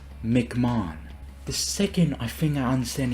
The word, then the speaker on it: McMahon: previous tier this video I kept pronouncing it as Mick Mahone except his last name is pronounced McMahon the second I finna